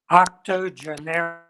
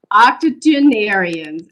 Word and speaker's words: octogenarians: 80 poems by two octago how do you pronounce that dr leighton octogenarians octogenarians absolutely what was your inspiration for writing these